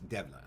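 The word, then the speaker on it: دولة: Arabic but not Turkish, Dawla, which has a Turkish pronunciation, which is Devla, okay?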